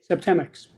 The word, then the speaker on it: Septemics: You have to help me how to pronounce this. Septemics and Yes, yes, Septemics.